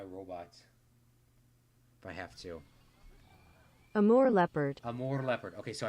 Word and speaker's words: Amur: How to pronounce, please. I could go to my robot if I have to. Amur Leopard.